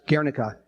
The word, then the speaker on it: Guernica: article about the bombing in Guernica which we pronounce Guernica which is where during